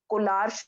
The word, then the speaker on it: Kohlrausch: This is known to be Collar's law.